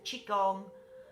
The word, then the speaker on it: qigong: also be be spelled it's certainly spelt with a g which is how you pronounce it or spell it with